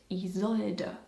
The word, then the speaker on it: Isolde: And you say it Isolde. Why do I believe that this could be somewhat funny for Americans? Just a guess. Richard, hey! Hey, Jackson! Isolde?